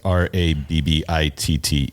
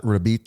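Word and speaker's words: Rabbitte: is it spelled like rabbit or no it's it's it's an old Scottish name it's r a BB I tte E okay and it pronounced rabbit not Rabat or well we pronounce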